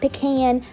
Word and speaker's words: pecan: Pecan. Not pecan, not pecan, not pecan, pecan.